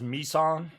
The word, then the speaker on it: Misan: It's just it's pronounced as Misan. Not me daughter, but me son.